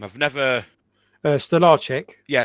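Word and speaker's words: Stolarczyk: goal even though I think how do you pronounce my backup goalkeeper's name I've never uh Stellar yeah staric I thought he was great against Manu as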